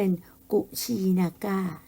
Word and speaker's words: กุสินารา: กับ กุสินารา ล่ะ ค่ะ กุสินารา เนี่ย นะ คะ เป็น ภาษา บาลี แต่ ชาว อินเดีย จะ ออก เสียง เป็น กุชี นาก้า นะ คะ เป็น สถาน ที่